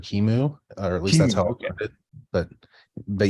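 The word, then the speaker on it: QEMU: do you say that qmu I I've heard different people pronounce it different ways I always heard Kimu or at least but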